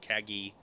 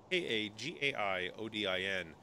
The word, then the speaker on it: Kagaiodin: tend to call me, Kagi. People just don't know how to say, my gamer tag. For those of you listening or watching, my gamer tag is spelled Kagaiodin. Pronounced Kagai Odin.